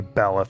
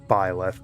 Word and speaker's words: Byleth: I'm going to say Belith, because I'm always going to say Belith. But it's officially pronounced Byleth, because Belith is one of the names of the demons from the Ars Goetia.